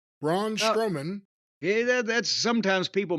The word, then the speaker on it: Braun Strowman: Fatu and his opponent by the way was brown strong man Braun strowman yeah that's sometimes people mispronounce it that way and yes he's been